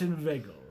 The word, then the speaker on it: inveigle: dose say inve nay but inveigle make the latter rhyme with Eagle mind meandering between Valentine